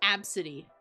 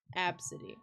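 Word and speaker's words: Abcde: to pronounce that name even though it's literally the first couple letters of the alphabet it's absidy that's how you pronounce that absidy i l you like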